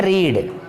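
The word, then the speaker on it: read: है वही रीड वाली, लेकिन उच्चारण इसका जो होता है वो रेड होता है. स्पेलिंग वही है, उच्चारण रेड होगा।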